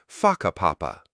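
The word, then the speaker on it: Whakapapa: You'll hear locals casually talking about places like Waka Papa, pronounced Faka Papa.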